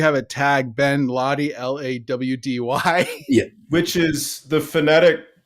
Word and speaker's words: Laude: I'm sure my Italian great grandfather didn't say Lawdy, and whoever in my family decided that's how it should be pronounced. That's unfortunate because it sure doesn't look that way.